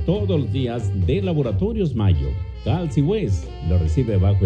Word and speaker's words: Mallo: Les saludan Amparo e Imelda, las jilguerillas, para decirles: aquí donde canta el gallo está Laboratorios Mayo, y Mayo se escribe como gallo, LLO, Laboratorios Mayo.